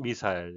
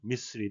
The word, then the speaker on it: missile: 우리말의 외래어 미사일은 영국식 발음은 미사일, 미국식 발음은 미스리 되겠습니다.